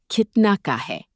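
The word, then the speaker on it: कितने का है: The second magic pattern is Kitna Ka Hai? Kitne Ka Hai? It means how much is? Pronounce it Kit Na Ka Hai.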